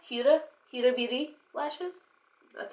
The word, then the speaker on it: Huda Beauty: I am using my Huda Huda H Huda Huda Beauty lashes that's how you pronounce it I'm going to use these lashes